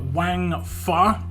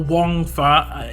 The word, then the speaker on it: Wangfa: a first look at Wang far or Wang far there are two ways you can pronounce this name I've looked up I'm